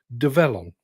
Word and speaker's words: Develon: I need to constantly remind myself that it's pronounced develon now should we um crack on with a